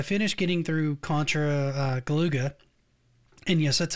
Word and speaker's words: Galuga: getting through Contra uh galuga and yes that's how that's pronounced it's how they pronounce it in the game to it um went